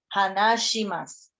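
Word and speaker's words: 話します: Entonces tampoco es tan problemático, pero lo correcto es shi, hanashimasu.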